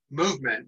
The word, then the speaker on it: MVMT: period of time and it's called movement it's spelled mbmt some of you may